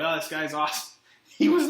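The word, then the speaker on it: Asomugha: Oakland named uh namdi awesome what I think was uh pronounced like awesome awesome and I don't know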